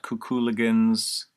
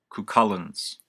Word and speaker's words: Cuchullin's: It's spelled weird. It's not Cuculigans or Culcalanes or Cthulhuigans. I've been corrected. Cuchullin's. I think I'm saying it right now.